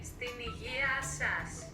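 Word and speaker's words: στην υγειά σας: In Greek, you would say "steniasas."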